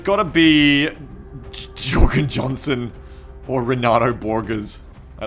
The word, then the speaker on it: Jorgen: No, it's pronounced Jorgen.